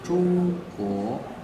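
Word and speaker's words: 中国: En chinois, on dit Zhongguo. C'est Z-H-O-N-G. C'est Zhongguo, c'est G-U-O.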